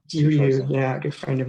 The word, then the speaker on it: Jiryu: I assume you've read, is it Jirio? Is that how you say his name? Jiryu, yeah, a good friend of mine.